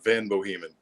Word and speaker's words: Van Bohemen: Yeah, it's a Van Bohemen. Van Bohemen. Yeah. Like the Bohemian Rhapsody.